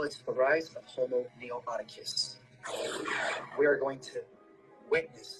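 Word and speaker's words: noeticus: Homo neoticus. Homo neoticus? Neoticus. It's spelled N-E-T-I-C as in cat, U-S.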